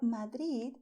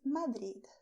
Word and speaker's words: Madrid: For Madrid, you have three options. The first one is Madrid. The second one is Madrid. And the third one is Madrid. Whatever you like best.